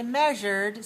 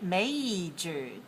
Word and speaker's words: majored: computer majored in and be careful not to say measured say majored MJ very good Larry majored